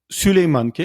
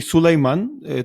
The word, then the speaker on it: Süleyman: দেখতে পাচ্ছি সুলতান প্রথম সুলেইমানকে মানে আমরা তো বলি সুলাইমান তুর্করা উচ্চারণ করে সুলাইমান হিসেবে উনাকে ইংরেজিতে বলা হয়